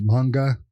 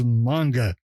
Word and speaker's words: manga: you're right it's and it's pronounced manga not to be that guy but it is it's it's you're reading manga the entire time it's pronounced you can eat my ass it's manga it's manga but anywh who well